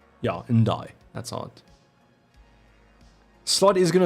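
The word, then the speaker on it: Ndiaye: I think I'm doing and die actually that's how you say it yeah and die that's OD slot is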